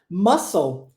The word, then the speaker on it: muscle: o mesmo padrão l l no final das palavras tem um som de ou tá Incredible ah irresistible